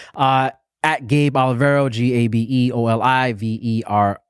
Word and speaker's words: Olivero: this call, at Gabe Olivero, GabeOlivero. So Gabe Olive, if you want to say it like that.